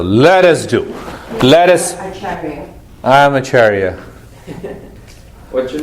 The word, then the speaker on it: Acharya: not sure what you There are two meanings, If you say only achar, that means pickles. No, really. And if you pronounce the word acharya, acharya, that means the teacher who causes you to move to the peace and happiness.